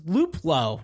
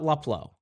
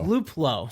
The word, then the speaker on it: Luplow: it and it's and it's luplow not luplow it's luplow so i learned a